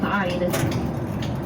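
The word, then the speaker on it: wyd: The name white rhino comes from a mistranslation of the Afrikaans word wide, spelled w y d e, pronounced wide.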